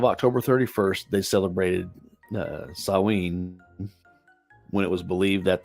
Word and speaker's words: Samhain: to the ancient Celtic Festival of Samhain or pronounced saween the Celts who lived 2000 years ago mostly